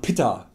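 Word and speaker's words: पित्त: Die korrekte Aussprache wäre Vata, Kapha und Pitta. Aber ja, ich nenne sie einfach weiter Vata, Kapha und Pitta, weil es mir einfach angenehmer über die Lippen geht und an der Bedeutung an sich ja nichts ändert.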